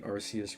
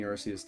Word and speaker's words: Arceus: I call it shiny Arceus rhymes with Grog.